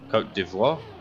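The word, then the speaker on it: Côte d'Ivoire: do french very well coat devoir i think yeah there you go coach but yes in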